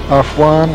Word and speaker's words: Afwan: 10, Afwan, written by Willie Carson. We're told that that's the correct pronunciation.